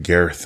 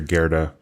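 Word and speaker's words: Gerðr: There's different pronunciations. I always go with Gerdr, but I think she's like Gareth in the But so if you hear us saying Gareth or Gerda, it's the same person.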